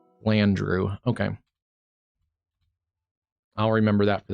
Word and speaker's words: Flandreau: Yeah, I figured I was pronouncing it a little off, but Flandreau.